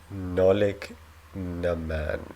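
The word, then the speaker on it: Nollaig na mBan: Nolig Naman. Nolig Naman. Okay, so the B is silent.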